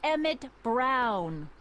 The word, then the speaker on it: Emmett Brown: bill to a tee that's Emmett Brown rhymes with clown which I'm beginning to